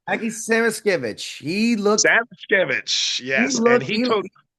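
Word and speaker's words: Samoskevich: Samaskejov, right? Did I pronounce it right? Aki Samaskevich, Samaskevich, he yes, and looked he he, took.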